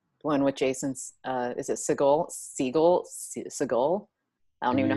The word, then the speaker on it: Segel: the Muppets movie, one with Jason's, is it Segel? I don't even know how to say his last name. His name said out loud? I forget how he says it. Jason Segel. Segel, thank you.